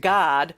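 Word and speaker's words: Gad: of prosperity right um spelled g-a-d but pronounced god right in the ancient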